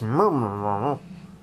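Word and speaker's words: Mmrnmhrm: It's pronounced murmur. Whatever it is. All right. Device. We are the Chenjesu. We are the Mernherm.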